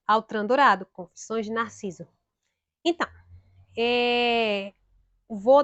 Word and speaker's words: Autran Dourado: Confissões de Narciso, de Outram Dourado. De Altran Dourado, Outram Dourado. Eu falo Outram, minha gente, porque é o costume da pronúncia francesa. Mas é Altran Dourado, Confissões de Narciso.